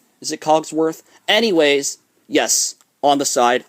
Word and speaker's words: Cogsworth: This is the special edition of Belle's Magical World, the 2003 VHS with Coxworth. Clockworth, is it Cogsworth? Anyways, yes, on the side. Sorry that I mispronounced his name.